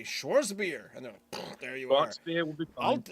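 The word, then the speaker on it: Schwarzbier: Bangz Schwartz Schwartz beer you don't say the r you do but it's like really mellow also isn't a w pronounced like a vatz y there you go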